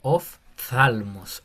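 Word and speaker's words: ὀφθαλμός: Esa se pronuncia como una F. Ah, Eso sería oftalmos.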